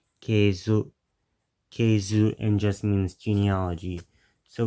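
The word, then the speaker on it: 系図: And this word at the end of verse 1 in the Japanese is pronounced keizu, and just means genealogy.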